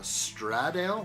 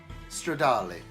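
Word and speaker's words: Stradale: Uh, Straddale. What? What? Straddale. Stradali. Stradali. It is It is Italian. Say it correctly.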